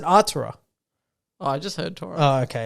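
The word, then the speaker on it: Artura: me okay hold on it's spelt a r t u art aura oh i thought you just meant torah like t-o-u-r-e-r no no no art aura art aura how would you say that yeah ura you really butchered it the first time sorry mclaren i'd take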